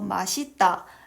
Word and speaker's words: 맛있다: 원래 마디따의 원칙 발음은 마디따입니다. 있다는 확실한 뜻이 있기 때문에 맛이 끝소리를 디귿으로 교체한 뒤 연음되어야 합니다. 하지만 사람들이 계속해서 맛있다 라고 발음을 해서 국립국어원에서 허용 발음으로 추가한 것입니다.